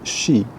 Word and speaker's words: Sidhe: It's the story about the Shee, called, spelled Sidhe, but pronounced Shee.